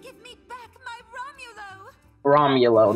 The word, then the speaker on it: Romulo: Romulo, that's how you say it, Romulo.